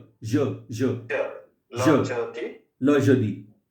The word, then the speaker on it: le jeudi: एक तो ये ल है, ले नहीं है, ठीक है? Okay. फ्रेंच में जो ई है, जो इंग्लिश वाला ई है, उसका प्रोनाउंसिएशन वो अ है, Okay. ठीक है? That is very important to understand. ल जदी, Le jeudi.